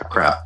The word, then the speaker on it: aqrab: And it's AQRAB, as I recall the spelling of it. Yeah, a crab. A crab. So and typically Q is pronounced K in those aspects, as opposed to how we pronounce Q.